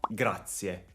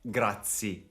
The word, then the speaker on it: grazie: è la parola singola grazie attenti alla pronuncia non è grazie ma è grazie questa